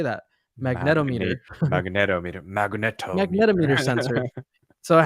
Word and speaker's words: magnetometer: It has eye tracking, so it has an accelerometer, has gyroscope, and a magnometer, a magnetic. How do you say that? Magnetometer, magnetometer sensor.